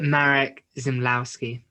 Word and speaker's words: Marek Zmyslowski: Marek Zmyslowski. I actually pronounced his name correctly in the thing.